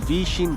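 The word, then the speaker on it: 微信: वी chat उसका English name है और वैसे उसको वी शिन कहते हैं और ये WE और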